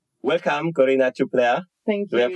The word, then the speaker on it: Corina Ciuplea: the Carol shimanovsky Music Academy in K welcome Kina Chupa thank you do I pronounce it correctly yes you did yes you're